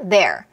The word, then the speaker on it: they're: your 그 다음에 he is 축약도 his 그 다음에 they are는 they are가 아니라 their 뭐랑 소리가 똑같냐면 여러분 they의 소유격 their 아시죠? 걔랑 소리가 똑같아요.